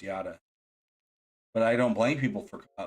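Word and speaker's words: Yotta: always thought that too a lot of people call it yoda but it is pronounced yada but i don't blame people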